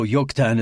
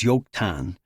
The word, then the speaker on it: Joktan: No, Joktan is pronounced with a Y sound, not a J.